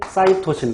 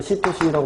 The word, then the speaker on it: 시토신: 구조 속에서 수소결합이 2개, 구아닌은 사이토신 또는 시토신이라고 발음하는데 3개의 수소결합을 하고, 그럼